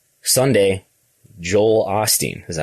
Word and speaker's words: Joel Osteen: Number 1, 2, 3, 4, 5, Sunday, Joel Osteen. Is that how you say his name? Yep, Joel Osteen, yeah.